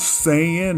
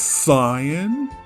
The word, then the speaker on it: Saiyan: Since posting the original video, I have been getting an endless barrage of NPC tier comments asking me, why do I pronounce Saiyan as Saiyan?